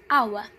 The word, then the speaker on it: hour: So, for example, a careful pronunciation of the word hour begins with a vowel quality similar to a sounds, and back tongues low, goes on u sounds and back tongues high, then ends in schwa in central mid.